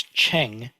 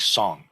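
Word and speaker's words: 成: So this is Cheng in pinyin or Mandarin. When Koreans say this character, they pronounce it something like song.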